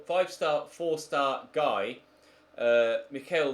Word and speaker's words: Michael: star four star guy Mikael Weber I guess would be the way to pronounce it in German obviously I was an Englishman would say Michael but I think Mikael is how they say Michael in Germany I'm just thinking of